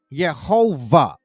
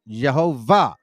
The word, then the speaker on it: Jehovah: 13th century rendered as yova because remember in German the W is V verman and it's a w Jehovah this form was then produced